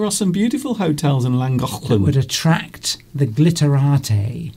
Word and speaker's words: Llangollen: And then we visited we went to Llangollen, which is the correct pronunciation of Llangollen.